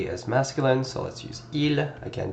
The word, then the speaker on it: ils: In this case, it's telling us that they is masculine, so let's use ils. Again, do not pronounce the S.